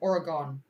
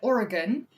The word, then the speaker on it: Oregon: or no, I said Oregon. Yeah, I said Oregon. And people hated me cuz the aura did not go wasn't gone. I got like thousands of